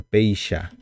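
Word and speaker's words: péicha: en guaraní la letra ch pronunciamos como She y no como Che Entonces como si fuera el yo de de los argentinos de los porteños que dicen sho entonces sería como si fuera esta pronuncia peisha peisha ahora tenemos la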